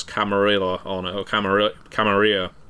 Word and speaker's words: Camarilla: told me, "No, no, it is should be Camarilla. We decided on that." Right. Right. So I've been pronouncing it wrong as well.